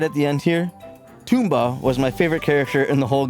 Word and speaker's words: Tumba: His name could be Tumba. It is spelled T-U-M-B-A, but he lived on a beach where I pictured everyone having Jamaican accents, so I called him Toomba.